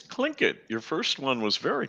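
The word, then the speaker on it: Tlingit: words linglet or ling jet how do you pronounce that it's it's clink it your first one was very close i'm surprised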